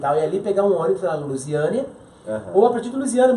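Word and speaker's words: Luziânia: Como é que pronuncia? Lusiânia.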